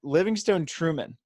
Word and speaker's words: Livingstone Treumann: So we got Coach LT, which I honestly – your full name is Livingstone Treumann, right? That's it. Okay, pronounced it right.